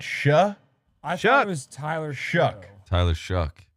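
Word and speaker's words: Shough: I thought it was Tyler Shuck. Tyler Shuck. Shuck like CK.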